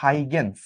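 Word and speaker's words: Huygens: সেই তত্ত্বটা হচ্ছে তরঙ্গ তত্ত্ব, এবং এটা দিয়ে গেছিল হচ্ছে হাইগেন্স। এখানে দন্তস্বটা কিন্তু অবশ্যই উচ্চারণ করতে হবে, নাহলে কিন্তু বিপর্যয় হয়ে যেতে পারে।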